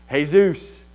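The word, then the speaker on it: Jesús: EA Zeus Zeus now if you were Spanish what would you say hey Zeus but in English we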